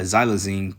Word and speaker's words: xylazine: into their stumps it says uh how you pronounce it xylazine yeah xylazine killed a record of nearly 107 000 people in the U.S in 2021.